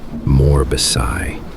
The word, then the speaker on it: Morbos: I am a demon straight from hell, and my name is pronounced Morbasai, but it's spelled like Morbos.